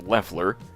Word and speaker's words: Loeffler: In an exclusive interview, Loeffler, pronounced Leffler, apparently, told Fortune that ICE